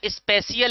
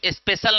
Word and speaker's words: spatial: अच्छा, स्पेशियल लिखना है, SPATIAL। स्पेलिंग समझ लो, स्पेशल नहीं लिखना, SPATIAL। हाँ, इस बायोलॉजी में पढ़ा होगा ना? अच्छा, इसको क्या बोलेंगे? हाँ, स्पेशियल, SPATIAL। स्पेशियल, है ना? थोड़ा सा और जितना डिजाइनर चाहो उतना बोल सकते हो। अच्छा, स्पेशियल का मतलब क्या होता है? स्पेशल नहीं है सबसे पहली बात, और स्पेलिंग मिस्टेक ना समझना।